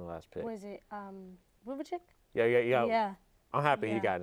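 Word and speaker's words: Vučević: Was it Vucevic? Yeah. I'm happy he got into the All-Star game this year too. Representing Orlando proudly. I'm going with him. Proudly. Sorry, I pronounced his name wrong. Vucevic.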